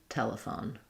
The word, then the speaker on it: telephone: Phone, telephone. Same idea. Telephone. Or you can even just do telephone. It almost sounds like I said that sound, right?